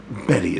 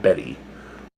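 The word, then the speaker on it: Bette: he says again and that great woman's name is pronounced bet not Betty is that so I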